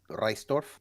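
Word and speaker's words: Reissdorf: the the question is it's r-e-i-s-s-d-o-r-f and okay so it's rice reistorf uh k k well it's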